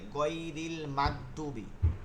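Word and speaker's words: غير المغضوب: করেন ভালো করেন গুলো অনেকে গাইন গুলোকে শক্ত করে ফেলে গাইরিল মাগদুবি ঠিক আছে এভাবে হবে না এগুলো নরম হবে উচ্চারণটা মনে আছে কিনা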